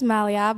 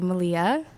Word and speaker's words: Malia: My name is Malia, but no one knows how to pronounce it, so they say Malia.